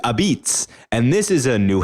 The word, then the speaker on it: apizza: full name is Sally's a-p-i-z-z-a and the way that that's pronounced is abits and this is a